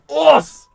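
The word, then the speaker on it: ours: But, yeah, I named my Ursaluna Us, which is just the French word for bear. It's spelled Rs, like, you know, O-U-R-S.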